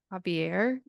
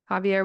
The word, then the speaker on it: Xavier: Starting with patriarch Javier. It's spelled like Xavier.